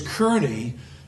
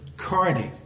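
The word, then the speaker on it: Kearny: Yeah, I have to remember, his name is Kearney. His nephew pronounces it Carney. Same spelling, different pronunciation.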